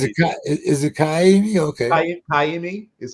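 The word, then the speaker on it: Ka'imi: it's pronounced he's it is it Kimi okay Kimi is how it's pronounced okay uh well he tooked a walkoff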